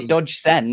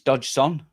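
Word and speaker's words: Dodgson: No, it's not dodgen. It's dodge son.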